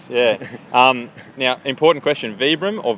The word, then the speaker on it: Vibram: um now important question vbr or Vibram I think the company pronounced it vbr but most people say vibr yeah I got say